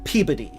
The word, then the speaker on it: Peabody: Peabody is pronounced Peabody.